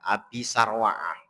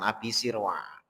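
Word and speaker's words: أبي سروعة: Abi Sirwa'ah itu adalah dengan kasrohnya sin al-muhmalah. Muhmalah itu yang tidak bertitik. Jadi sin yang tidak bertitik maksudnya ya sin biasa, bukan shin gitu ya. Jadi di kasroh wafat hiha. Ada juga yang membacanya dengan fatkah abi sarwa'ah.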